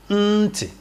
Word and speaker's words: ntị: Some of you cannot pronounce the sound. Just say nti.